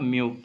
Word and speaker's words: μ: இதை என்ன ப்ரொனவுன்ஸ் பண்ணோம் அப்படின்னா மியூ, சரிங்களா? மியூனு ப்ரொனவுன்ஸ் பண்ணோம், மியூ 2/μ1.